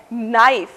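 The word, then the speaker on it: knife: दूसरा उदाहरण है नाइफ। इसमें पहला अक्षर यानी कि के मूक यानी कि खामोश यानी कि बिल्कुल साइलेंट है।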